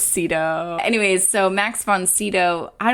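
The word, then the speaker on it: Sydow: No, we just looked up how to pronounce it and I was wrong. I guess it's Cedto.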